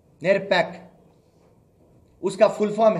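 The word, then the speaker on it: NERPAP: निकाले हम एक प्रोग्राम निकाले जिसका नाम है नेर पैक उसकी स्पेलिंग बोलता हूं मैं आपको एन ई आर पी ए पी नेर pack उसका फुल फॉर्म है नेशनल इलेक्ट्रोल रोल प्रोग्राम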